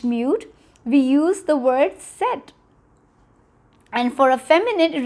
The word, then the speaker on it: cet: Okay, do not confuse the pronunciation of set with cette.